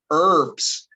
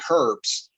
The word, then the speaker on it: herbs: english-speaking world they'll say herbs right they actually pronounce the h but uh particularly in u.s english we don't use that h sound uh for herbs um